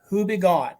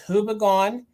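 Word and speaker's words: Houbigant: This is a French makeup company, and I'm going to butcher it, but phonetically it's Hubigon. So it's Hubigon is the company.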